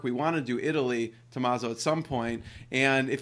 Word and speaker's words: Tommaso: How do you properly pronounce your name in Italian? Hi, Jeremy. Thanks a lot for having me here. Tommaso, EasyShip.